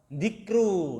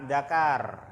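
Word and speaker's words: ذكر: Dikru. Nah, na'am, sahih. Itu dibacanya dikru. Jangan dibaca dakar, ya. Jangan dakaro, maksudnya kan itu kan.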